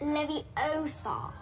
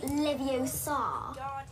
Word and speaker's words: Leviosa: Besides, you're saying it wrong. It's Leviosa, not Leviosa. You do it then if you're so clever.